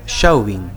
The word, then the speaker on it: Chauvin: de fotos de familia como es francés se escribe sin acento chauvín será entonces y si uno la